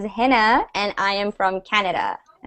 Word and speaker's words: Hina: new I'm your teacher my name is pronounced as henna and I am from